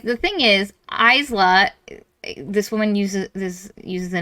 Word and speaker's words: Isla: like the thing is, Isla, this woman uses the name Isla, which has an S in it, but it's silent.